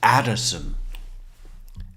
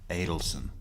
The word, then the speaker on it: Adelson: Who's this Addison? Adelson. So Actually, it's spelled right.